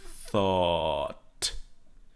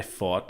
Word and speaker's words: thought: Okay, it's not an F sound. It's not I fought. It's I thought.